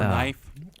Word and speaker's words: knife: They stopped pronouncing the K in the word knee. Or knife.